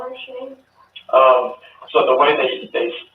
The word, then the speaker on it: Shanann: Does her family call her Shanann? So the way they spelled it, it was like Shan-Ann, like with an apostrophe, but she just called it Shanann.